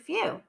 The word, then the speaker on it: few: Well, if you said that few has one syllable, you would be correct. If you also said that in this word few, the W is acting like a vowel, so when it's with the E, it says oo.